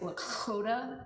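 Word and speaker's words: Lakȟóta: a like Bach has like a sound, so it's like Lakota. Like, you know, I'm working on it, but that's one thing. And she also spells it with an X to like mark it phonetically, L-A-K-X-O-T-A.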